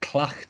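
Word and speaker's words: Tlachtga: happens in a place hard to pronounce place called clutch and it's spelled with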